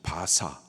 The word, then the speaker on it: 바사: 해줍니다 바벨론은요 기원전 538년 페르시아 바사 성경은 바사라고 발음을 하고 있는데이 바사의 고레스에 의해서 멸망을